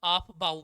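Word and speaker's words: Aufbau: क्यों ऑफ बाउ? इसकी तो स्पेलिंग भी अलग तरीके की है। सबसे पहले 9th में पढ़ा था हमने इसको। क्या है स्पेलिंग बताना? AUF BAU, है ना।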